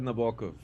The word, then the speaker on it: Nabokov: but I am well how do you pronounce nabaka is that correct or do you say Nabokov um I mean I always said Nabokov that is the correct way I approve is it